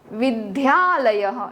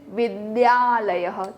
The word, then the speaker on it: विद्यालयः: School is नॉट विद्यालयः, इट इज विद्यालयः।